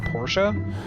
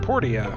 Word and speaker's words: Portia: for the longest time I thought it was called my time at Porsche, because that's just how I thought the word was spelled or pronounced. But then now that they actually have like voice acting in here, then one of the characters was like Portia, and I was like, oh shit, it's called Portia?